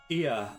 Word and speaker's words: Ea: our thoughts and intentions IA I believe was the pronunciation used when referring to our people though it is not